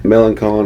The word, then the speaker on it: Melancon: Meloncon. Melancon. Melancon is how they pronounce it.